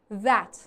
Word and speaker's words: that: ببین ما TH رو دو مدل تلفظ میکنیم. یکی مثل thanks یا مثل three صدا ث میده. یه وقتی هست مثل that نمیگم. that نمیگم. د نیست. صدای انگار ز میده.